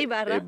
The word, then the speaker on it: Ibarra: Ibarra.